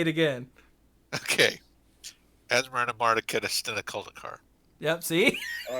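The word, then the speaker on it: Asmoranomardicadaistinaculdacar: Asmarina Marticudistina Coldicor.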